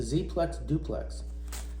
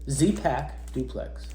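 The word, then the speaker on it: Zpacks Duplex: It's a duplex, a Z-Plex duplex, or Z-Pack duplex is how you say it, yeah.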